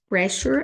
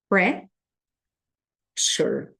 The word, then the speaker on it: pressure: cabine cabin Pressure loss Pressure a gente vai pronunciar assim ó pre Shure Pressure aí a gente tem